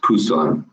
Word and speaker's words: Busan: on the bottom right you see Busan actually pronounced Pusan and that's where our